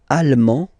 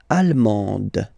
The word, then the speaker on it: allemande: L'Allemagne, allemand, allemande. Okay, same thing here. Okay, you don't pronounce the final D, but then you pronounce it here for the feminine form.